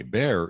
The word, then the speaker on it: Bexar: Bear is spelled Bexar. I have no idea what the derivation of that word is, but if you're not from there, you look at Bexar and you have no idea You're right. how to say it.